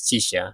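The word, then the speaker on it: Chixia: for alto actually even chisha I feel like I said it wrong before but yeah it's chisha most of the DPS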